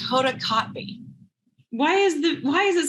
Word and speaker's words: Kotb: It's Hoda Kotb. Why is it spelled like that?